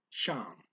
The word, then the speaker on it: siyang: Speaker blends siya and ang here, and the siya is pronounced sha. Okay, so kind of quickly. So what you're expecting siya ang, instead you get shang as a blend of the two words.